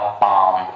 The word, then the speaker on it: palm: ठीक है, साइलेंट में जैसे मैं लिखूं PALM, आपको पता है M के पहले L आया है, L को साइलेंट करिए और लिखिए, बोलिए आप पाम।